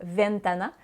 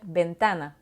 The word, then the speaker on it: ventana: v en français mais en espagnol lever se prononce comme un but donc c'est pourquoi on dira pas ventana mais on va bien dire ben thanh binh thanh donc si votre nom et valentin